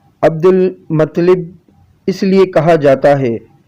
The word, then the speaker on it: عبد المطلب: یا شیبۃ الحمد۔ ان کو عبد المطلب، درست تلفظ عبد المطلب اس لیے کہا جاتا ہے کیونکہ ان کو